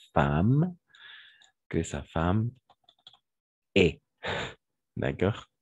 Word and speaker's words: femme: de peur que sa femme attention ne va prononcer femme que sa femme et d'accord et on va